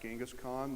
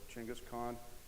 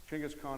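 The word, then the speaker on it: Chinggis Khan: named Changas Khan um You probably heard it pronounced gask Khan that's the westernized saying they don't like that over there so chenas Khan chenas Khan actually means Universal ruler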